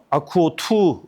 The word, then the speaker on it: AQWO: 그럼 이제 분리형 아쿠오 2 제품에 대해서 이제 소개하도록 하겠고요. 제일 처음에 소개할 것은 이제 T 아쿠오 2 요건데, 여기서 참고로 이제 아쿠오라는 말이 AQW5기 때문에 이게 무슨 약자인가 이렇게 봤거든요.